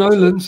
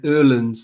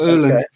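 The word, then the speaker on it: Öhlins: They used to be, I should say Erlin's. It's pronounced, it sounds like E-R, you know, is the correct way. The O with the two dots is Er. So Erlin's.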